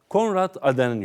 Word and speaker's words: Konrad Adenauer: ...Robert Schuman (okunuşu:Robert Şuman), Konrad Adenauer (okunuşu: Konrad Adenau) ..